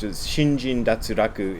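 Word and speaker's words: 身心脱落: Shinjin datsuraku is what it's pronounced in Japanese. It's actually a Chinese phrase, and it doesn't have any relation to the idea of an out-of-body experience.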